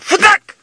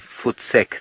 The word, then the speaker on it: voetsek: But you do need to say it like that. You can't say sort of "footsek" to somebody. You have to kind of "futak." has to be one syllable.